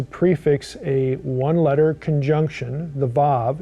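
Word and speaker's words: וָו: a onlet conjunction the VAV it's spelled w a w but pronounced VAV prefixing that one letter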